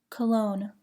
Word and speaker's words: cologne: Do not pronounce the G in the following words: align, assign, benign, campaign, champagne, cologne, design, feign, foreign, gnarl, gnash, gnat, gnaw, gnome, rain, resign, sign.